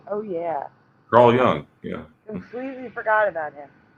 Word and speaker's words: Carl Jung: everyone should know who Carl Carl Young it's pronounced Carl Young Young yeah yeah he he was famous in